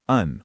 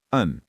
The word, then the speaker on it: and: And becomes uhn or just uhn.